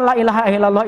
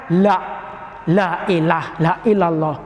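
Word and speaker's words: لا إله إلا الله: Namun ingat ini, kata-kata la ilaha illallah ini sering kita mendengarkan pengucapannya masih ada yang salah. Salah di mana? Padahal la ini kan tidak ada. Tetapi ada sebagian orang mungkin kesadarannya atau kealfaannya dibacanya la ilallah, la. Kan beda kan?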